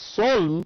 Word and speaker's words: solemn: red that's blessed okay solemn s-o-l-e-m-n the pronunciation is soul but we write s-o-l-e-m-n so that's a new